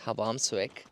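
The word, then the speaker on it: Hvammsvík: It's actually pronounced Hvammsvik, but look at the parking lot as compared to what it was when we came here.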